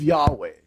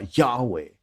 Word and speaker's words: Yahweh: Kalom sin God kan pa house of Yahweh. Yahweh because Hebrew sima akkelebye inen God. Inen God sa mga akfledge pa Yahweh.